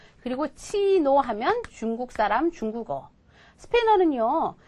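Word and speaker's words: chino: 자 보세요 이해는 말이죠 스페인어에 또 다른 철자인데 발음 자체가 치예요 그래서 예를 들어 이거 있죠 이거요 치노 그리고 치노하면 중국 사람 중국어 스페인어는요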